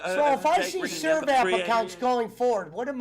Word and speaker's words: Sirvap: But you got to remember, I was SRIVAP, and the other ones didn't even spell it right. It's Sirvap, not Srivap.